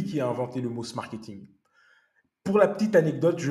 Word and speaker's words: Smarketing: a inventé le mot Smarketing. Pour la petite anecdote, je l'ai rencontré en 2018 à Boston et il me disait les Américains prononcent Schmarketing. Et je vous donne cette